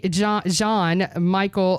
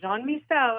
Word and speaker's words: Jean-Michel: And Count Dante Jean Michael Valentino. No, it's close. Count Dante Jean-Michel after Basquiat, the artist.